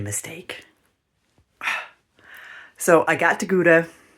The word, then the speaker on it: Gouda: So, I got to Gouda, which is pronounced Houda, um couple days ago.